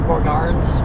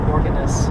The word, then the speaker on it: Borgarnes: It would be like Borgarnes, French. Oh yeah, Borgarnes. But they pronounce it Borgarnes.